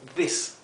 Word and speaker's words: this: En este caso, como después de la S no hay ninguna vocal, sino que termina ahí en la S, la vocal anterior se pronuncia corta, como this.